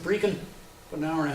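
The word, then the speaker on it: Brechin: We who live in southern Ontario here would think of Brecon, a little village north of here. But the Scots pronounce it Brecon, about an hour and a half north of Dundee.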